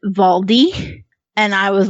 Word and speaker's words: Waldi: really messed up because the girl's German and she pronounces it valdi and I was like